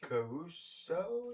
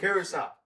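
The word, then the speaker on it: Curaçao: Caruso or something? No, that's not correct. Curacao. Curacao, that's it.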